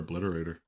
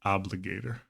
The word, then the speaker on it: Obligator: I'm just gonna slam another Obliterator or Obligator. I keep saying that darn card name wrong. Eldrazi Obligator.